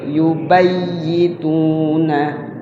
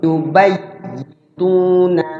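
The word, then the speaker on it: يُبَيِّتُونَ: Id yubayyituna ma la yarda. Ayo coba baca. Ingat ya-nya bertasdid tuh. Bacanya dimasukkan, tahan di ya-nya yang pertama. Id yubayyituna ma la yarda.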